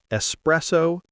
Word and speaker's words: espresso: But the correct one is espresso. No x.